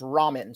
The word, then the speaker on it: Romen: name is actually I it doesn't look like this from the writing it is pronounced Ramen so Ramen I have